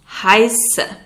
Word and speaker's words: heiße: If you want to introduce yourself, you would say Ich heiße. Ich heiße. That letter looks like a B, but it's a sharp S.